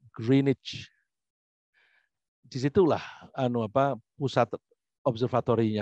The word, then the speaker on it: Greenwich: ada tempat namanya kritik tulisannya duwik tapi dibacanya grained situlah anu apa pusat